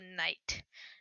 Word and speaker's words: knight: The only exception is the knight. Because like knight is spelled with a silent K, right? It's Knight.